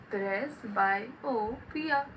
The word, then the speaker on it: प्रेसबायोपिया: प्रेसबायोपिया। Press को बाय कर दो पिया।